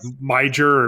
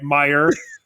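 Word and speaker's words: Meijer: I think I called it like Major or Major. If you put a J in it, I'm going to pronounce the letter. All right, Meyer.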